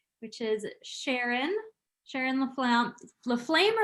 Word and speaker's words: Laflamme: first guest speaker which is sharon sharon laflamme fleflamer leflam i never remember that i pronounce it la flame because that's what i was told but i